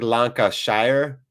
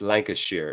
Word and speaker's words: Lancashire: typed it in there it looks like lanka shire but it's lancashire it's how you i